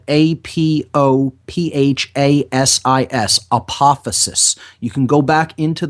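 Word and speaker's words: apophasis: okay we looked into the concept of what apophysis is that's spelled a-p-o-p-h-a-s-i-s apophysis you can go back into the shows where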